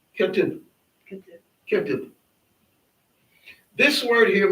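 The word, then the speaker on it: כתיב: Sometimes people, when they see the last letter, they'll say like ma or ba. You don't say it. It's just that short sound. Ketib.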